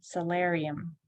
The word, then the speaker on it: solarium: All right, solarium, solarium. Parents, So as you can see, again, it's not an R sound, it's not an OR sound or sound. Solarium, it is stressed.